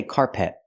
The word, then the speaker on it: carpet: floor I cannot say carpet carpet I cannot stress both syllables I stress the first syllable so it's carpet carpet the second syllable is not stressed it's closed and relaxed p p not carpet